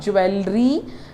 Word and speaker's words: jewelry: it is absolutely wrong you know what this e becomes silent so it becomes jewelry it becomes jewelry it's not jewelry it is not jewelry